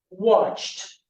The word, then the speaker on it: watched: So let's practice that and you can pronounce at home. Everyone, wash, T, washed. Ask, T, asked. Watch, T, watched.